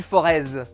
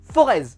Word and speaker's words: Forez: gouvernement de la loire on ne dit pas forez on dit le forez voilà il faut que faut que soit reconnu je sois su non le z ne se prononce pas on dit le forez ça se prononce comme ça chez nous et dans toutes les